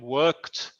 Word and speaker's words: worked: O work, pasado worked, fija la pronunciación también, worked con un T, pasado participio worked.